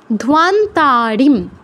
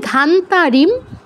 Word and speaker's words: ধ্বান্তারিম: তারপর ধ্বান্তারিম, ধোয়া, ধয়ের সাথে ও আছে, সাথে আকার, তাহলে আমি যদি বলি ধান্তারিম, তাহলে ও এর উচ্চারণটা তো বাদ পড়ে গেল, যেটা আমাদের উচ্চারণ বিধির বাহিরে, তো এটা করা যাবে না, ধান্তারিম বলা যাবে না, ধ্বান্তারিম সর্ব পাপঘ্নম প্রণতোস্মি,